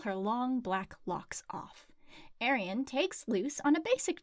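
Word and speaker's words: Arriane: As the instructor is dismissing them from orientation, Arian, which her name is pronounced Arian, which is a terrible name, Arian comes in, gives the instructor some sass, and is volunteered to show Luce around.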